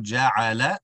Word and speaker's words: جعل: Wallahu ja'ala. Ensuring that the sounds are the same. The lam sounded dragged. Ja'ala. Rather, the lam is just a short sound.